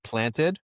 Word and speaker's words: Plantd: of it because it we pronounce it planted planted but as long as you're pronouncing it in some form or fashion then you know I'll take it.